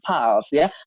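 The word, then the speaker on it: Pulse: Melalui aplikasi paus teman-temannya tulisannya pun saya Tapi bacanya bukan pulsa teman-temannya tapi alshya Fals itu artinya Kalau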